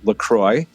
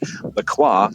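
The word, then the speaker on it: LaCroix: Yes, it is Lacroy if you're in the US where I was originally from. So when I came here and they I heard it pronounced Laqua, I was like, what is going on?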